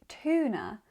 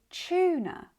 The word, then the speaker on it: tuna: The general pattern is that when T is followed by the U sound like you find in you it becomes chew. Like in tuna Tuesday, tulip tuition and tumor.